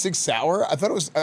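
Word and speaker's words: Sig Sauer: It's pronounced six sour. I thought it was I always thought it was six sawyer.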